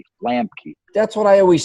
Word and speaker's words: Lambke: It's Lambke, Lambke, Lambke.